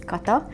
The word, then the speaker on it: Kata: So yes, my name is Kato. This is how we pronounce.